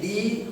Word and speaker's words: the: এখন দেখো আমরা বিশেষ করে যখন এইটা এই দি যখনই আসবে এইটা উচ্চারণে সবাই দেখা যায় যে সবসময় আমরা খালি